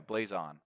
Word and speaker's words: Blazon: And then it's Blazon is the name of the company. Yeah. Blaze On is the name. Blazon.